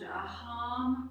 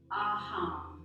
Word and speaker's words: Aham: So in a moment, we're going to quietly recite a beautiful mantra called Aham Prima.